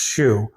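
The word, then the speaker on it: choux: It's actually C H O U X and it's pronounced shu.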